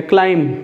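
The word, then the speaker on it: climb: करना, क्लाइंब का मतलब, इसको क्लाइंब नहीं बोलेंगे, क्लाइंब बस. बी जब भी एम के बाद आता है तो साइलेंट होता है, ठीक है.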